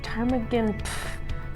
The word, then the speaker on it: Ptarmigan: sweat I swear t-a-r the p is silent p is silent garlic Ptarmigan tarp again what the